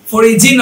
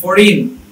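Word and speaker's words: foreign: তারপরে ফরিজিন হয় না, এটা হচ্ছে ফরিন। রেজিন না হয় ডিজাইন, জিটা দেখেন সাইলেন্ট আছে।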